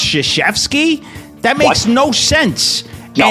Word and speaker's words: Krzyzewski: He's going around telling everybody his name is pronounced Krzyzewski.